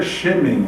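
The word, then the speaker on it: שֶׁמֶן: É interessante que aqui há até um trocadilho no hebraico, porque nome ou fama aqui é Shem e o unguento é Shemen. A pronúncia é mais ou menos essa.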